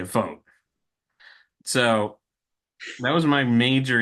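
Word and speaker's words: Vogt: What is I said Voit? Who? How do you pronounce his last name? Vote. Oh, okay. Vote.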